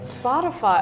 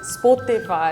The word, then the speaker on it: Spotify: one more time please spotify and we have some shout outs spotify okay okay shout out to this guy uh it's actually it's like spot on spotify spotify optifine the